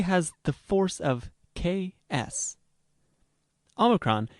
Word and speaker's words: Omikron: Omikron is usually sounded like O in not, but at the end of a syllable, it approximates the O in note.